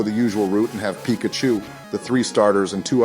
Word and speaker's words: Pikachu: you we named our Pikachu and honor you our first Pokémon and most trusted team member couldn't have been named anybody other than George Joe it's pronounced Pikachu that was worse than